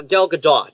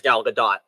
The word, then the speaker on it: Gal Gadot: benoist and how and since i actually hear gal gadot pronouncing her name as gal gadot i'm going with that i'm sorry to say